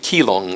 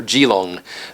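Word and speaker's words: Keelung: particular city in Taiwan, the city of Kong or Gilong, uh, to use the Mandarin pronunciation.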